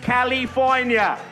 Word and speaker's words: California: It is pronounced California.